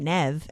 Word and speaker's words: Neve: thought of the actress nev campbell who pronounces her name nev and it's n-e-v-e and then i assume